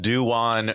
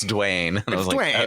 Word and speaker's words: Dwyane: to new york city i thought it was called dewan reed story because i read it that way bobby's like it's duane right it's the same pronunciation as gabrielle union's husband it's just who is